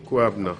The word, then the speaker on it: Kwabena: Kwabna.